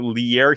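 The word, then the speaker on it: Lierre: It's not Leary, it's Pierre, but with an L. So Lear Keith.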